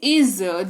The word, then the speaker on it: is: है उच्चारण में तो उच्चारण मैंने दे रखा है इज ज के नीचे अ नुक्ता लगा हुआ है तो ज उच्चारण होता है का इज इसको पढ़ते हैं इसका मतलब होता है